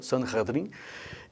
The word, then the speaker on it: Sanhedrin: E esses, o Sinédrio, Sanhedrin, como eles falavam, e falam até hoje. Claro que não existe o Sinédrio, né, mas eles comentam sobre o Sinédrio, é assim que se pronuncia, Sanhedrin.